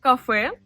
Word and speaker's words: кафе: C'est beaucoup plus facile avec le mot café qui signifie café en tant qu'établissement. Café, café. La seule chose qui pourrait poser des difficultés, c'est la voyelle y à la fin qui se prononce e.